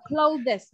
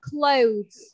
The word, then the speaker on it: clothes: Và cái chữ này con sẽ không đọc là clothes, mà con sẽ đọc là clothes.